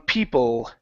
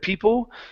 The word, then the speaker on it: people: I need the L on people. Okay. Instead of people, it's an L. It's a tongue movement.